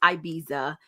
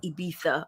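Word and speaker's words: Ibiza: wanted to go to I know it's not pronounced IA it's ibisa but I say IA okay so we decided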